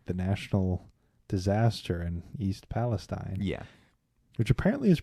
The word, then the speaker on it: Palestine: did with like the national disaster in East Palestine. Yeah. Which apparently is pronounced Palestine.